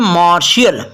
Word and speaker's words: martial: मार्शियल।